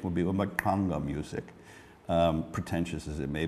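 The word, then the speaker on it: Mbaqanga: Correct pronunciation would be Makanga music, pretentious as it may be to say it that way.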